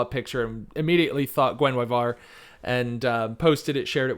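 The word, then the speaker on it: Guenhwyvar: Is that how we're pronouncing it, Jeffrey? Gwenwyvar? That is how we're supposed to pronounce it.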